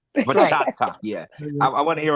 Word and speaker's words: bachata: Yes, you gotta emphasize the T. Bachata. That's right. Bachata, yeah.